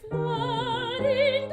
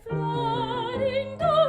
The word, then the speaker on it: Florindo: I'm going to do a nice accent on the rin, exactly how I think would really help you. Okay, here we go. Se Florindo e Fedele. It was definitely easier for me than before. The first one was a little labored for me. Here's the accent on the do, how much more labored it sounds. Se Florindo e Fedele. It's just a little bit too intense.